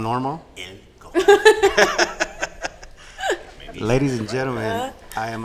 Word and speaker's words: El Cajon: Lou Almighty is not here, but I am in El Cajon. Why you gotta say it like that? Like what? I mean, us normal people say it as El Cajon. Oh, so I'm not normal? El Cajon.